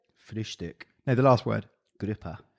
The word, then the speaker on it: Gruppe: Gruppe. So grouper. That's easy. Fish, Yeah. grouper, done.